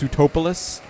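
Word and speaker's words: Sootopolis: It's pronounced Sutopolis.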